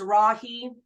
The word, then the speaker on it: Rahe: Phonetically, it's Rahe. Kind of sounds a little Texas.